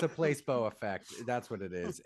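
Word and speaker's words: Peloton: says it's su's work place bow Place bow not peblo I was saying it wrong place bow the place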